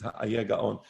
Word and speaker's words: Hai Gaon: Rabbeinu Ha'ayeh Gaon, and the rhyme doesn't go with the word ayeh. It doesn't go with the word I, it goes with the word ayeh. So the older or original pronunciation is Ha'ayeh Gaon.